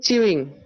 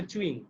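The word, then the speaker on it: chewing: বাংলায় লেখা থাকে স্যার চিউইং, বাংলায়। হ্যাঁ স্যার এটা ভুল, এটা ভুল। চিউইং না, এটা হবে চুইং।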